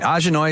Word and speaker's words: Ajanoi: Ahjha-noy is something that came to me many years ago. Well, I've been doing this side business full-time business now for about 9 years. And Ahjha-noy is spelled AJANOI.